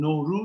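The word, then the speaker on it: نوروز: sohbet toplantısı olarak görüyorum Nevruz veya farsçadaki doğru telaffuz ile nuru bu no New yani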